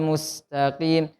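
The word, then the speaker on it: مستقيم: Sama ko, Pak, Bu, itu jangan sama kayak huruf kaf. Ya. Jangan mustaqim, kim, bukan ki, tapi ti. Mustaqim. Dan jangan terlalu dalam Pak ya, nanti keselak Pak, bukan mustaqi. Nah, itu. Dia santai saja Pak. Mustaqim.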